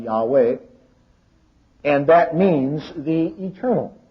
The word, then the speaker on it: Yahweh: His very name we have the Hebrew tetra grammaton which we normally pronounce Yave or something along that line. Yahweh and that means the eternal.